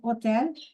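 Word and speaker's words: hôtel: As I told you H is a silent letter in French. It is hotel.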